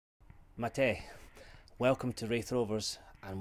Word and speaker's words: Matej: It's spelt Matej, but it's pronounced Matej, correct? Yes, correct.